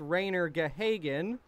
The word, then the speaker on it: Rainier Gahagan: Thank you, as I'm getting word it's pronounced Rainier Gahagan, so I'll try to remember that as the broadcast goes on.